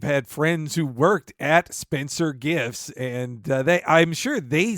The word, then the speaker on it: Spencer Gifts: It's not Spencer's Gifts, and Spencer's Gift makes no sense. It's Spencer Gifts.